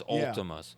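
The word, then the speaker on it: Vltimas: You wouldn't pronounce it Ultimus. It's with a B. It's with a V, but it's Ultimus.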